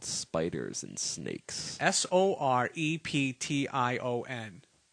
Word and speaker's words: Soreption: called spiders and snakes sor EP tion how would you say that sorption sorption yeah okay so if you want to say it like that I guess you can sorta to him yeah sorption all right cool